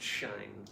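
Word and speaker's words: Shein: will photograph she alone says it's pronounced shine oh thank you I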